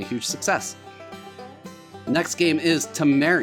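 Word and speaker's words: Tameri: success next game is Tam Mar I believe that's how you pronounce it t m e r i it's 1 to four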